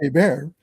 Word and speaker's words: Hebert: Well, Hebert is spelled Herbert, so it's Herbert, but it's pronounced Hebert.